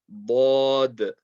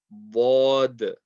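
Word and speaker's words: ض: The next letter, tongue is side of the tongue touching the side of the back teeth. Bod. Bod.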